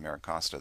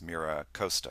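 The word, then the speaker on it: MiraCosta: thing that's interesting on maracosta there's maracosta there's that's a correct pronunciation by the way I guess I was corrected last week it's Mira Costa correct there is actually uh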